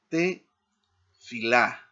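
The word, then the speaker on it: תְּפִלָּה: Aquí entonces aparece la otra tab para ah tener claro cómo están las sílabas. A ta bien. Y aquí tenemos otro ejemplo con esta otra palabra en hebreo te filá, ¿no?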